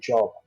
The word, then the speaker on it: Job: los angeles one epic job oh joe depending on how you pronounce it but job i would say is the correct pronunciation you've interrogated our interview